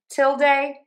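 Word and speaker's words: tilde: So stress syllable number one till. till till and then you end with day like day of the week or duh with thewah. So we have till day till day till day or till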